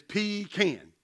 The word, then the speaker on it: pecan: When in North Carolina, do as the North Carolinians. It's pecan.